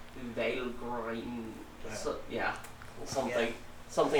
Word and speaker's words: Valgrind: This Wikipedia says it's pronounced Valgrind.